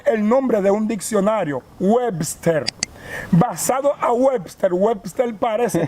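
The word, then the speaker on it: Uebster: me pone webster porque mi nombre se escribe u e b s t e r webster mi papá me pone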